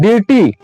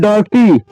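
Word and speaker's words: dirty: उसी तरह इसको बहुत से लोग पढ़ते हैं डीटी, डीटी गलत है, इसको पढ़ते हैं डर्टी।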